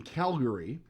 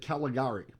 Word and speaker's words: Calgary: at the 1988 Olympics in Calgary, or as Jeff would pronounce it, Caligari.